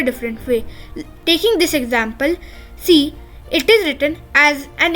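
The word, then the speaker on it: С: is similar as well it looks like an English C but is pronounced as s s and it is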